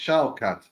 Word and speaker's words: Shavkat: He said my name pronounced Shavkat. It's like the German VW, like the V for the W.